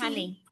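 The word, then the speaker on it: tannie: Can you pronounce tante tant tante honey? It rhymes with bunny like bunny rabbit.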